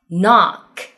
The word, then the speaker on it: knock: Number three, KN 开头，K 不发音。No, knife, knock.